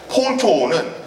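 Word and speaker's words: Pwn2Own: 이 친구가 어떤 일을 저질렀냐면 여기 PWN to OWN 이렇게 돼 있죠. 이걸 Phone to Own이라고 읽습니다.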